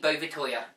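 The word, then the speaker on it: Bouvetøya: And I know they say Bovetoya, but it's officially Bovet Island. Bovetoya being the Norwegian pronunciation, because Norway had officially originally claimed the island.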